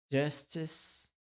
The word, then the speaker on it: justice: Então, toda vez que tiver uma palavra que termina com CE, lembre que, na verdade, a gente fala que a pronúncia é um S final. Prince, justice, justice, prince, justice, justice.